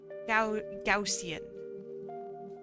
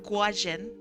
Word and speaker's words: Gaussian: How How do you pronounce Gaussian? Gaussian. Yeah, it's not Guajin. Gaussian. Gaussian. Let's hear it slow. Gausian.